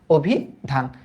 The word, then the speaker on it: অভিধান: কারণ আমরা জানি যে রস্বইর আগে যদি একটা অধ্বনি থাকে এবং এটা যদি নেতিবাচক অর্থে না হয়, তবে ওই অ এর উচ্চারণ ও এর মতো হয়, অভিধান। এটা পারার কথা না?